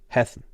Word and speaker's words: Hessen: Hessen. Just means the letter before the double letter is short.